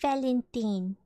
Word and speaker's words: Valentine: It's pronounced Valentine. Antonia Valentine. Not time, it's teen.